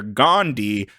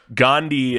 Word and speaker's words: Gandhi: rest of the world Gandhi not Gandhi Kyle Gandhi spelled like candy but with a G almost couldn't finish that